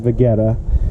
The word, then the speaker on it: Vegeta: People pronounce it as Vegeta.